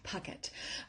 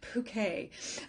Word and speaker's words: Puckett: And my last name is pronounced pucket. Uh, you made me so sound so posh with bouquet.